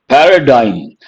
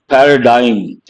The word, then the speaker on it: paradigm: that to influence people Paradigm what to be careful with pronunciation g is silent Paradigm Paradigm part of speech noun